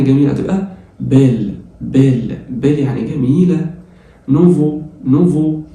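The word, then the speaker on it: nouveau: نوفو الاي والاي واليو زي ما اتفقنا بتتنطق او تبقى بو او نوفو يعني جديد.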